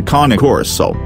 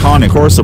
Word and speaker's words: Cane Corso: So 1 point to KAH-NAY KOR-SO.